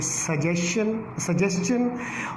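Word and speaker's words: suggestion: अब आपने माइंड में रखने ये बात, ये वर्ड पहला जो था वो क्वेश्चन पढ़ा जाता है, दूसरा जो वर्ड था उसको हम पढ़ेंगे सजेस्टन, और तीसरा जो वर्ड है उसको डाइजेस्टन पढ़ेंगे। तो ये इसकी सही प्रोनाउंसिएशन है और उम्मीद है कि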